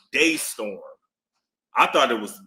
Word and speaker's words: Destorm: Yeah, it's Yeah, but it's pronounced Daystorm. I thought it was Dtorm.